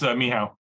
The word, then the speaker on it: Michal: His name is pronounced Michael, or is it? It's Michal. Michal.